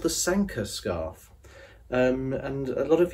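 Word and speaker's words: Sanquhar: Isabelle sa nqu har Sanka aha who's thinkin it rhymes with Tonka so the Sankar patterns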